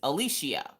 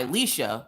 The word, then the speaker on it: Alishia: So my name is Alishia. My government name is Alishia. I go by Alicia because every time I try to pronounce or say the word Alishia correctly, somebody always has a 30-minute story about somebody that they know named Alicia.